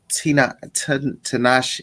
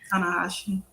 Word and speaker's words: Tanahashi: But in our main event, of course, Okada versus Tanahashi. I can never say his name, honey. Tanahashi, honey.